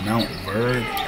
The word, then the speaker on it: Montverde: not forget what happen it's so it's it's pronounced Mount bird the offensive rebound off the fly Harris connects